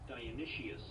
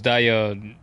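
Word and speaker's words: Dionysius: Temple of I forgot the pronunciation of this again. What is it? Dionicius. Dionicius. I really thought it was Dion.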